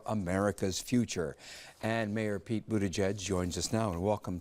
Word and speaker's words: Buttigieg: How do you pronounce it? Buttigieg.